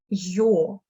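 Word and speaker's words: Ё: y, mais avec deux points, et on le prononce comme yo, Yo.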